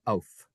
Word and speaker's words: auf: It's actually auf. Auf Wiedersehen. Auf Wiedersehen. You know this word. Kinder. Kindergarten. Children's garden. Kinder park. Kids park. Kinder is children in German. Auf Wiedersehen, Kinder.